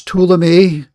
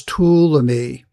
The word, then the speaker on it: Ptolemy: So first of all, how do you pronounce these two empires, these two generals? Well, here it is. Ptolemy is the first one, and Seleucus.